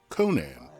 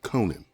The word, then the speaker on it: Conan: this film was made the name of the character was generally pronounced conan not conan so for this review i